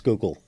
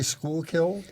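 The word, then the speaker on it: Schuylkill: and I asked somebody how to pronounce Skookul. Perfect. You did it. You did it precisely right. Some people say school. Oh yeah. Or skyill or Yeah.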